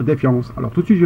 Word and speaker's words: Defiance: c'est ceci défiance alors ceux qui regardent la série télé prononce ça en français ils disent defiance mais moi j'aime pas moi j'aime bien dire défiance alors tout de suite